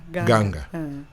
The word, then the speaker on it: Nganga: Ganga.